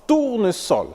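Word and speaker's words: tournesol: entouré de vOYEL mais se prononce ne se prononce pas Z il s'agit par exemple de susurer vraieemblance tourne sol ainsi que des mots commençant par le préfixe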